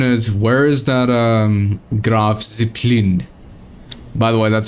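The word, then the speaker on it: Graf Zeppelin: Now, the question is, where is that um Grav Ziplin? By the way, that's how you pronounce this German carrier. Uh right here. You see it? You pronounce it as graph zeppelin. Not graph zeppelin. It's graph zeppelin.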